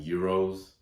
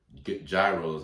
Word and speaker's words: gyros: I tried some gyros, gyros as you know them, but they're pronounced gyros in Greece, and they were very delicious.